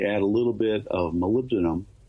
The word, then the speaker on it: molybdenum: a little bit of molybdenum, that's spelled molybdenum, but molybdenum that enhances the pitting resistance.